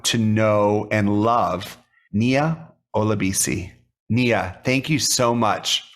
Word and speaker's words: Olabesi: seen in writing and you said olabisi is how you pronounce that name and then we got